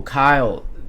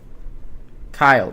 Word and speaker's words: Cuylle: You've got Will Kyle. Kyle. That's a very hard name to pronounce. It's spelled Cuylle. So Will Kyle, that's how you pronounce it.